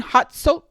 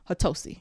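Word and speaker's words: Hatosy: Next up, we have Sean Hotso. I said it wrong. Somebody gonna be like, girl, you suck. Hatosi. Yes. We're going to go with Hatosi, who plays Titus, who is Ursula's brother.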